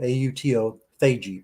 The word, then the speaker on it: autophagy: a term called autophagy, spelled auto, A-U-T-O, phagy, P-H-A-G-Y, pronounced autophagy.